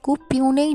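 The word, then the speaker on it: puisne: जब मैं पुइस्ने जज था— वर्तनी P-U-I-S-N-E है—तो 's' साइलेंट होता है। इसे 'पुइस्ने' जज कहा जाता है।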